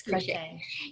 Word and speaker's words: crochet: in other DIY activities and check did I pronounce this correctly crushing crochet Shane yes crochet is productive because it is something that you